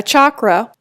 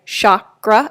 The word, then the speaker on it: chakra: and some people say Shakra and that's fine too either way is fine we're not the grammar police obviously so whichever way makes the most sense to you it's actually a Sanskrit word and it literally translates